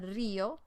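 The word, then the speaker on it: río: bosque el bosque and a river is el rio with an accent on the eye el rio and then an inn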